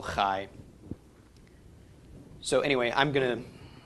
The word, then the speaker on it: chai: different English letters so this could be transliterated CH AI but it's not chai is inch I team it is still high so anyway I'm going